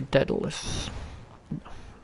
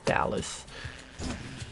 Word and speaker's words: Daedalus: Money to the right, or an upgrade by Daedalus. Or the Dallas, depending which syllable you wanna put the accent on.